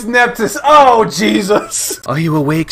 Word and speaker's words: Nephthys: Oh, it's Nephthys.